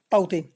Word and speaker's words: Tauktae: ठीक फ्रेंड्स, आपको स्पेलिंग में यहाँ पर देखने को मिलेंगे अजीब से, लेकिन इसकी प्रोनाउंसिएशन जो राइट होगी होगी साइक्लोन ताउते।